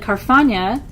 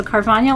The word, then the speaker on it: Carfagna: Tia said Carfagna is pronounced like lasagna.